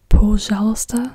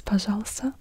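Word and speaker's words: пожалуйста: yeah an o sound but if it's unstressed it can also be pronounced kind of like an a um in certain words as an example pasala you write it like Po poala literally but so pajala means please but it's still paala and not poala it's pajala so it can sometimes also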